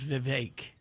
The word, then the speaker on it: Vivek: uh his name is Vivek and you know that because it rhymes with fake The Atlantics John Hendrickson